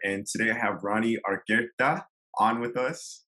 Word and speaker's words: Argueta: Hey everyone, here, and today I have Rony Argueta on with us. How is that pronunciation of the last name?